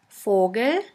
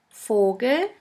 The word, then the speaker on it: Vogel: V is pronounced like the F in the word for. In German we have the word Vogel, Vogel, which means bird.